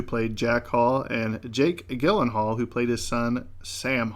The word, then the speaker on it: Gyllenhaal: Dennis Quaid, who played Jack Hall, and Jake Gyllenhaal, who played his son Sam Hall. Did you know it's pronounced Gyllenhaal?